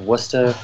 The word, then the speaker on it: Worcester: is called Peabody you have Worcester which is you know people think it's Worchester and things like that